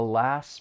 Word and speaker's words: last: syllables get removed so the final T in the word last it's going to Al light it comes between two consonants so you're not going to hear it the last minute I want you